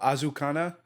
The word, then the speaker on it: Azakana: Um so Azukana um like definitely more with like the uh like Asian pronunciations to kind of go with the Ionian theme. So Azakana.